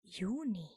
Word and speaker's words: Juni: And June in German is Juni. Juni, Juni, Juni, Juni. And Juni also uses the article der. So June in German is der Juni.